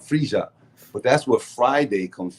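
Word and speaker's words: Freyja: y a a friia some people say friia but it's it's a j sound FIA but that's where Friday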